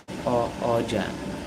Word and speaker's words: Arjun: Is that pronounce it Arjun? You can call me Arjan. Arjun.